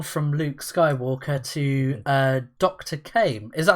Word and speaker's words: Caim: Caim.